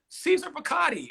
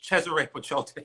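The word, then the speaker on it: Cesare Paciotti: up, I'm like, oh, Caesar Piccati. And she like smacks me upside my head. She's like, it's Cesare Pachote. Like, learn how to say these words properly.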